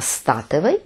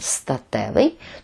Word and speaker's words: соціостатевий: Саме з наголосом на статевий, бо якщо ми наголошуємо статевий, то ми викликаємо у нашій голові ту саму асоціацію – сексуальний.